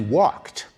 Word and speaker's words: walked: When we say he walked, we pronounce the ed d like a like a t. Walked.